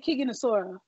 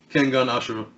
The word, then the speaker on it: Kengan Ashura: Because I've been saying Kigen Asura. Kengan Ashura. Okay, Kengan. All right, you teach me later because I can't say it.